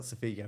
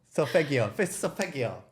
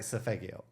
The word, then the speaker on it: Solfeggio: name, I always say Sofigo, and it's not Sofigo, it's Fegigo? Sofigo. I'm the wrong person to ask. How the hell do you pronounce it? Of course. Solfeggio.